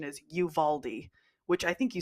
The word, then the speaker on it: Uvalde: seen people say like Uvalde Uvalde and it's like I know it looks like it's supposed to be pronounced Uvalde but it's Uvaldi and I've been seeing